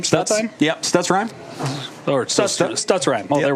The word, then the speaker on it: Stutzheim: How do you pronounce the head coach's name? Stutzheim? Yep, Stutzheim.